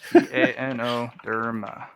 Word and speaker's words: Ganoderma: How do you spell that? Gar. Ganoderma. It's actually what. Garn. Gano. Gano. Oh, Ga. What is it? Ganoderma.